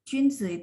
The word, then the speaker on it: 君: Junzi itu biasanya junzi nih. Jun satu ya. Junzi itu adalah pemimpin, orang yang sangat berpendidikan. Junzi ya. Jun bacanya JUN, bacanya mulutnya setengah bulat ya.